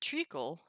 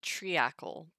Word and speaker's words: treacle: Because, the ancient would be triacle, but we might just do the EA as an E, treacle.